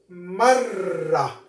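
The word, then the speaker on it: مرّ: What about if we add a shadda to the ra? Notice what is the pronunciation will be marra. One more time. Mara, marra. Mara, marra. This one actually is double ra.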